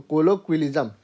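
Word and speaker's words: colloquialism: इसको ना क्यल बोलते हैं क्वल इस वाले हिस्से को तो कोलोक्वलिज्म ठीक एक बार फिर से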